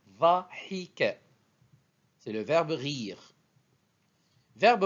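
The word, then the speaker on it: ضَحِكَ: Verbe suivant, vocalisé, dhahika.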